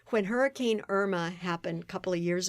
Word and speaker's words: Irma: So there's a famous singer named Irma Thomas. I would never call her Irma Thomas. That's not her name. She's Irma Thomas, but I'm Irma. When Hurricane Irma happened a couple of